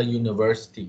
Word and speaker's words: university: Sama dengan case university tadi, walaupun dia ejaannya U, tetapi the way you pronounce it is Y. Y is consonant, so kita panggil a university.